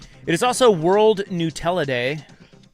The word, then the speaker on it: Nutella: It is also World Nutella Day.